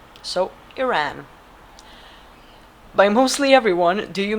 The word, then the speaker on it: Iran: The I is supposed to be pronounced like Italy. So, Iran.